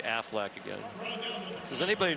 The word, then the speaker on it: Aflac: Aflac, Aflac, Aflac, in case I miss one next week. I want you to say it like the Duck.